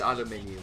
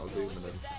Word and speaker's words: aluminium: Because it is aluminium, not aluminum.